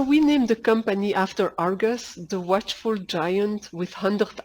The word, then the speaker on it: Ai-RGUS: We pronounce Ai-RGUS as Argus and keep the 'i' silent.